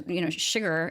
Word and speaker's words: Chigurh: which it's interesting to say that out loud because, of course, it sounds so much like sugar, which we know that it is meant to be pronounced with an SH sound, with that sibilant sound, sugar, because at one